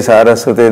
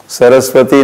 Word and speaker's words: सारस्वते: नमस्कार, नमस्ते सारस्वते देवे, सरस्वती नहीं कहना है, सुधरो आप, कब सुधरोगे, या सुधार करके कब कहोगे नमस्ते सारस्वते कहना है।